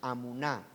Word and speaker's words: amuná: La palabra fe en el Antiguo Testamento es la palabra amuná, termina en H, amuná. Y amuná, así como se pronuncia, amuná significa firmeza, algo que no se mueve.